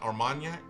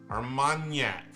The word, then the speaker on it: Armagnac: and Yak so not Armagnac there's a d almond yak there's not a D in there there's not a d like GN is is that's the sound Armagnac that's what it says